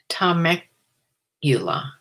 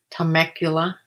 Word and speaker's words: Temecula: it just depends on her schedule hi sue tomek ula that must be how you pronounce something i miss a mispronounced temecula temecula undercover yard sale hi yeah that's what